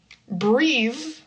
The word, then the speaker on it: breathe: Breathe which is the action is voiced.